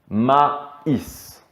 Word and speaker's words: maïs: son syllabique par exemple on pourrait avoir mais mais sans le yprema et donc c'est une syllabe un seul son mai mais ici nous allons couper le mot ma is il en est de